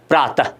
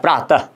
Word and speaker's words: प्रातः: जो चिन्ह लगता है जिसका उच्चारण ह का स्पर्श करता हुआ होता है, प्रातः, मतलब ह निकलते निकलते रह जाता है, पूरा ह नहीं निकलता है, प्रातः, यशः, यशः फल, है ना, बालकः।